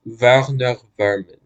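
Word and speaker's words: Werner Werman: German rat honestly and his name is pronounced Verner verman even though it's not spelled that way honestly this this boss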